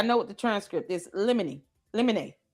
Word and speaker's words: limine: Limine. Limine. Limine. Little asterisk over it. It's Latin. Motion in limine. I said limine. Limine. I'm going to say the judge is saying it right, so we'll say limine.